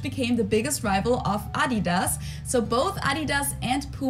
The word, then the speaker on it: Adidas: were referring to because they usually pronounce it Adidas and in Germany we say Adidas Adidas ad Adidas super different it's the second largest